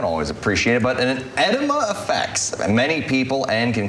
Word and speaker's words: edema: nurse Christina Paris hi good morning it's actually edema edema but it does it does look like that